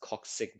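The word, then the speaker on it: coccyx: the coxic bone again if you have trouble pronouncing things with a Y just change it to an I so that's coxic bone that's the tail bone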